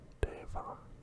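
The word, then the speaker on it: では: The W is not pronounced as on Dewa. It's Deva, Devamata.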